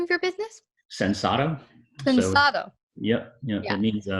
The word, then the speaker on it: Sensato: Sensato.